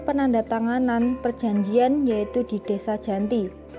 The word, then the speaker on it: Giyanti: perjanjian yaitu di desa Janti dalam pelafalan Belanda ia disebut sebagai Giyanti g h i j a n t i secara tertulis ia terbaca sebagai Giyanti gianto44 sekarang dikenal dengan